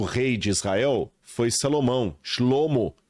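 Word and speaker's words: שלמה: e o terceiro rei de Israel Foi Salomão shlomo O Pacificador aquele que vem da Paz Olha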